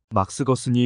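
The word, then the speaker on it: Gerson: 거은 박사를 자주 말씀하셨다 아버지가 발음으로 막스 게르손이었고 지금 그게 막스거슨이었음을 알게 되었다 막스거슨이 의사였으면 심한 편두통을 앓고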